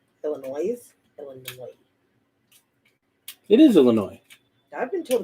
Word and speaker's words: Illinois: to point out that in california we call illinois illinois it is illinois i've been told it's illinois no no it's illinois as in illinois you